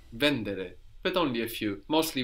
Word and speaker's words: vendere: so vend to sell do you notice something odd about vendere the accent mostly we have it on the ending now in the if we think now we have the accent on the in the two on the but not here vendere so some Italian verbs have the accent third from the end vendere but only a few